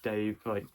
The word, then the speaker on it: Dav: And by the way, yes, if you notice, the author's name is Dav Pilkey. It's Dave spelt without an E.